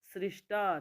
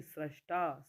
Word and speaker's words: स्रष्टा: इसको ध्यान से समझे सृष्टा नहीं स्रष्टा स्रष्टा स में र आपने देख लिया सब